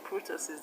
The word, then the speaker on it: kurtosis: And in kurtosis, the stress is on TO.